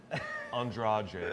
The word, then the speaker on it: Andrade: Andrade, I believe is how she pronounces her last Andrade, name.